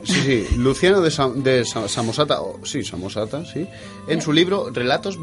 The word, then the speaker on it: Samosata: ¿Está bien pronunciado? Sí. Luciano de Samosata, Samosata, sí.